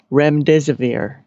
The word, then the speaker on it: remdesivir: very specifically and said it's remdesivir. There's 4 syllables. Remdesivir? Yep. It's like a fabricated word, and they're telling us how to pronounce it. Well, it's got 4 syllables.